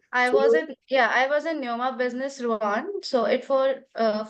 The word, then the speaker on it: Rouen: I was in Neoma Business Rouen, so it for 4 months.